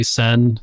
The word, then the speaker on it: Cenn: actually just looked, and all the names that start with a C, except for the CHs, they do have that like Celtic C thing going on. A hard C.